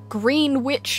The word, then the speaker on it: Greenwich: It's not Greenwich, it's Greenwich. And it does not look like Greenwich. No, it's spelled Greenwich.